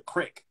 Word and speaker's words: creek: on down to the crick same word c-r-e-e-k but they pronounced it like crick like cricket um and then if